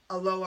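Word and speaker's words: Aloha: so I went to a low high school which is it's funny because it's in a lower Oregon but we're not Hawaii not pronounced a little hard yeah it's a low uh so you know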